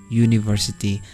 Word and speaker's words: university: Pada kata university itu awal hurufnya adalah u, namun dibaca u, university. Ketika dibaca u, itu yang keluar adalah suara y, university, ya kan?